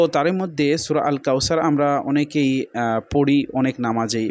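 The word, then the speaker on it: كوثر: ইন্না আ তাইনা কাল কাউ সার সার এখানে যদি আমরা বলি স্যার তাহলে ভুল এখানে ছা এরকম হবে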